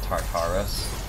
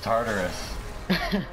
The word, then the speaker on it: Tartarus: how much I hate it when people say tart Horace and then mispronounced Tartarus cuz said Tartarus not scartaris her